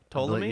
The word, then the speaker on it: Ptolemy: long line of Ptolemies, spelled like pterodactyl, Yeah. P-T-O-L-E-M-Y? Ptolemy? Yes.